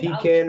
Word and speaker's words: pecan: You can Pecan or pecan. on. But again, it's regional pronunciation.